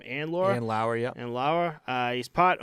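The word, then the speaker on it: Andlauer: And Ryan Reynolds, Toronto billionaire Michael and Laura. Is that how you say his name? And Laura? And Lauer, yeah.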